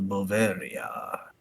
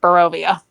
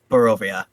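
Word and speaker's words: Barovia: Welcome to Bavaria." Oh dear. It's Bovia. It's it's it's it's pronounced Bovia. Bovia.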